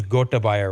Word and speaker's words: Gotabaya: So, but his name is Gotabaya Rajapaksa.